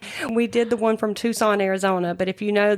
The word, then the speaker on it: Tucson: We did the one from Tucson, Arizona, but if you know that Tucson is spelled T U C S O N. And so his his intro he pronounced it Tuxen, Arizona.